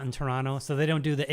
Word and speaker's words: Toronto: And one of the things was like if a word ends in O, it's like O, O, Toronto, Toronto, like that. You do a long O that ends in a W sound.